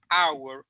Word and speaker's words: hour: Pero en hour la H no existe, por decirlo de esa forma, al momento de pronunciarla es una H muda.